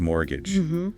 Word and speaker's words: mortgage: Yeah, the spelling is M-O-R-T-G-A-G-E. See that T in the middle? But you don't say it. Exactly. The T is silent, so we say mortgage, like M or gaja.